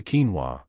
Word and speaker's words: quinoa: Pronounced a quinoa, this powerhouse, was revered by the Incas as the mother of all grains.